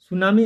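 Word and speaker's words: tsunami: ये भी ध्यान रखिएगा इसमें टी साइलें होता है टी सुनामी लिखा जाता है इसको ठीक है टी साइलेंट हो जाता है और यह जापानी शब्द है सुनामी ठीक है चलिए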